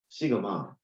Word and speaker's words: 시그마: 읽기로는 둘 다 시그마라고 읽어요. 뭐 식스 시그마 운동 이런 거 들어봤잖아.